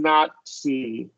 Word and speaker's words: Nazi: sportsmanship yeah correct so all of these here are going to have that TS sound including not see yeah the Nazi party